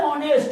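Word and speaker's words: honest: ये ऑनेस्ट ओ से चालू हो गया, लेकिन एच यानी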